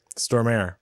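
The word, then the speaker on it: Stormare: there peter what side he pronounced his name storm air that guy peter stormer he's great always creepy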